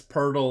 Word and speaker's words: Poeltl: Luffy says it's Poeltl like turtle. It is like Poeltl like turtle. It's spelled without an R, so it's very confusing.